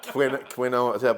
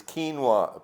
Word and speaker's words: quinoa: i was pronouncing it quinoa but it it's a spanish word it's quinoa basically but it's um